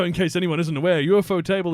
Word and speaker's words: Ufotable: Just so in case anyone isn't aware, Ufotable is actually pronounced UFO table.